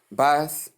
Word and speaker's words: bath: Difference voiceless the as we stated before and voice the the notes the in the first one that is for noun and the in the second one for verb.